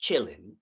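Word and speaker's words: Qilin: have this entity it's spelled Killin but it's pronounced Chillin and it's like a deer and this deer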